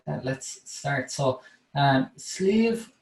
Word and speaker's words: Sliabh: good farmland and so sleeve then the word slave and you pronounce it like like almost like sleeve of your shirt sleeve that means mountain in